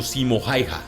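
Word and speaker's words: Simo Häyhä: es otro más que simo halja también pronunciado simo jaiha pero más conocido por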